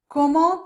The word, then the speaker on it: comment: Comment, the T is silent, but when the following word begins with a vowel, an A, for example, then we pronounce that T. Comment allez-vous?